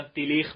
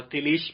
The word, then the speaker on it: Tillich: کے تلفظ کیے گئے، فارسی میں مثلا تلیخ بھی لکھا گیا ہے اور تلیش بھی لکھا گیا ہے، حقیقت اس کے سپیلنگ جو ہے TILLICH ہے، پول PAUL، پول تلیچ، یعنی ہم میرے خیال میں انگلش میں تلفظ تلیچ کریں گے اس کو، اور انہوں نے اپنا کسی نے تلیش کیا ہے، کسی نے تلیخ کیا ہے، بہرحال پول تلیچ